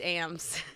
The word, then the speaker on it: Ames: Which actually it's Ames.